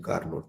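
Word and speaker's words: Carnot: हम लोग बोलते हैं कार्नो इंजन एक्चुअली यह कार नोट लिखते हैं लेकिन पढ़ते हैं कार्नो य टी साइलेंट होता है कार्नो इंजन यह सबसे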